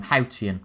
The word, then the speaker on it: Haotian: again that that's how you should pronounce the name hautian right okay not an easy one but not